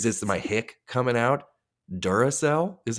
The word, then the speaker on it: Duracell: you just fought the Doraclell, yeah, they're three bucks more. They're going to let Or Energizer. Sorry. Whatever. Whatever floats your boat. I tend to use Energizer. Duracell. You said it right that time.